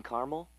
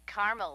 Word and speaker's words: caramel: please like it in caramel actually you said caramel when it's pronounced caramel can't we just call